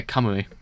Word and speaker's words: Kamui: I don't need to actually see how I've actually pronounced his name correctly. It's one of those ones that always gets me sometimes. Yeah, Kamui.